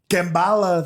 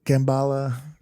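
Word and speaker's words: Kamala: So he's like, Kambala, they thought I was saying it wrong when I said Kambala. I was not.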